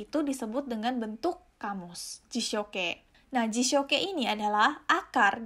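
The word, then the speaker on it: 辞書形: Nah, bentuk ini disebut dengan bentuk jishoke. Ya, ingat ya, ini dibacanya adalah ke, artinya adalah bentuk.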